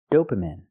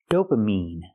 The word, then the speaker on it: dopamine: produced by our brain the word is not pronounced dopamine it's pronounced dopamine I have to use the long e sound like green beans dopamine not dopamine not I